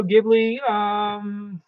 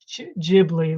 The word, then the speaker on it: Ghibli: So Ghibli, Ghibli, like J-I-B, Ghibli. Okay, so I've been pronouncing it incorrectly, I guess.